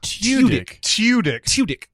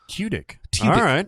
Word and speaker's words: Tudyk: Oh, Tudyk. Because he spelled it T-Y. So T-Y, like T-I-C-K. Oh, yeah. Tudyk.